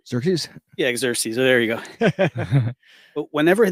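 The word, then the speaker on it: Xerxes: the Persian exes or something anares I can't pronounce his name xeres yeah xeres there you go but whenever they came back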